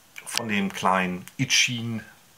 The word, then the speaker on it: Eachine: Das ist jetzt das Ende von Teil 1 von dem kleinen Ichin heißt das, spricht sich das wohl aus, H8S.